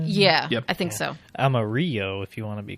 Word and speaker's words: Amarillo: Amarillo, if you want to be correct, politically correct. Oh, yeah. In Texas, they pronounce it Amarillo.